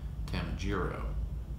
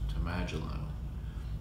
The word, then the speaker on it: Tamajiro: But it was funny because my mother's from Southern West Virginia, and she always pronounced my name Tamajiro, and I always knew my father's name was pronounced Tamajilo, and I always thought that was a much cooler name.